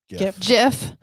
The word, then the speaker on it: GIF: okay here we go how is it pronounced gif or jiff gift gift gif i say gif jeff the internet has decided it's actually jiff oh is it was